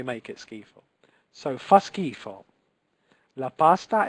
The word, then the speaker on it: schifo: Fa schifo. Okay, fa schifo with like a K. That the purpose of the H here. Okay, the purpose of the H is to make that C occur.